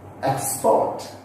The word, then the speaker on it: export: See, look here where the stress has been given. It is only on first syllable. And that where it has to be stressed, I have highlighted in the capital letters. Just see. Export, China, table, record, permit. See, all this word I stressed on the first syllable because they are two syllable word and more than that they are nouns.